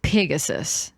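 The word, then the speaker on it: Pigasus: And it's like spelled like Pegasus, but it's Pegasus because it is a pig.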